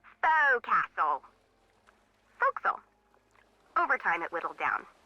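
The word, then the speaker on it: forecastle: ship but it's pronounced fil why is that try pronouncing it like an English sailor with no formal education fa Castle folkl over time it whittel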